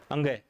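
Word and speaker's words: ङ: वर्ग का पंचम अक्षर इसका उच्चारण अंग ही होगा अंग अड़ अड़ नहीं होगा अड़ तो जब अपने वर्ण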